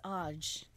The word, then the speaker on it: Aaj: me a sec maybe aj aj that sounds like someone just said a-a-j aj well we're waiting all right so the pronunciation that we came across is oj means today if google translates correct